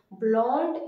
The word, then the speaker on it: blonde: In the feminine we have to say blonde. Il est blond, elle est blonde. Il est blond, elle est blonde. The we have to pronounce the D because of the vowel E.